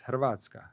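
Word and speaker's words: Hrvatska: It's easy to say Croatia, but in in Croatia is Hervatka. Hervatka. Nobody can say that.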